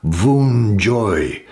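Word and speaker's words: Wunjo: letter here that's well no one knows how exactly it was pronounced but it's thought to be pronounced voon joy and that speaks of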